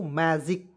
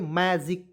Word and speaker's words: magic: ठीक है, तो यहाँ पे आपको याद रखना है दोस्तों, जी का उच्चारण ग के रूप में नहीं करना है, जी का उच्चारण ज के रूप में करना है।